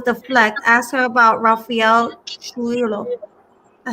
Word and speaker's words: Trujillo: Ask her about Rafael Trujillo. I say it right? Trujillo.